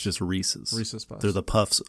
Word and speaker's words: Reese's: Not Reese's. Reese's There's no I in it. Reese's Puffs. It's just Reese's.